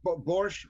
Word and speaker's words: borscht: other things too, but I only had that borscht. Borscht is how you pronounce it, Jeff.